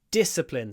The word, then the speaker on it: discipline: work and discipline disciplina discipline stresses on the D at the beginning so we do this discipline where we don't release the D immediately and discipline and discipline du of course it should